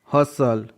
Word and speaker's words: hustle: HUSTLE, हसल, यहाँ पर STLE का पैटर्न है इसलिए टी साइलेंट है।